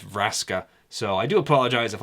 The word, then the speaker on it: Vraska: it's Braska I think I always pronounce it ver Aska but it is Raska so I do apologise